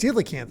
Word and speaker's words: coelacanth: Oh, it's pronounced coelacanth.